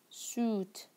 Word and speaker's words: suit: Suit. They have the same color. He wore a dark blue suit. You see also the word blue, it has the same pronunciation. Blue, ooh, ooh, suit, suit, suit.